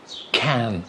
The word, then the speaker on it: can: of course don't forget the pronunciation of can and can't you have the a sound can can or in cat it's the ah sound can cat hand bag cat and the r sound in can't can't car can't r